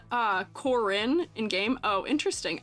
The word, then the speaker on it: Corin: in game oh interesting I just say it Karin because I know somebody whose name is pronounced that way in life who has it spelled the way you guys are spelling it um you know